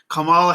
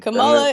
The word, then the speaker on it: Kamala: kamala in in uh south asian names tend to put the emphasis on the first syllable so yeah i like because it sounds like sounds like it's a massachusetts thing kamala is the herb that